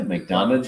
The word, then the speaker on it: McDonough: in mcdonald georgia where mcdonald is that how you say it it's not mcdonagh that's what i've experienced yeah yeah mcdonough so our nightcap